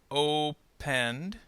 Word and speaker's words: opened: Opened. Remember, this is going to sound like a d sound. So in this case, we do not hear the e. So there are only 2 syllables in this word.